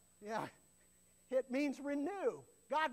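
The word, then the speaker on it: חיה: Say kaya. Sounds like a karate term, doesn't it? Kaya.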